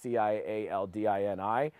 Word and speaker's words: Cialdini: a book by Robert, I don't know how you pronounce his name, Cialdini or Cialdini, it's Cialdini, and it's called Influence, the Psychology of Persuasion.